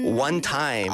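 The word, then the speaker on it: 1TYM: One Time. 근데 그 time이 TYM입니다. 네네네네. 네, 스펠링이 좀 힙합스럽죠. 네, 노래 좋아요.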